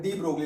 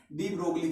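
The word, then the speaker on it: de Broglie: डी ब्रोगली, डी ब्रोगली बोलेंगे या डी ब्रोगी बोलते हैं इसको, एल साइलेंट कर लेते हैं तो बोलने का अलग अलग तरीका है। डी ब्रोगली बोल दो, कोई दिक्कत नहीं है।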